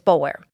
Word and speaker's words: Boulware: You will also hear the name Boulware, which is pronounced differently in the Low Country. This family is from the Columbia area, so we're going to pronounce it the way that it's spelled, which is Boulware.